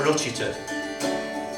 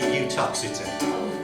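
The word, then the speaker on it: Uttoxeter: Now, I'll tell you something now, because this U is for Utchiter. Now, Utchiter is actually Utoxeter.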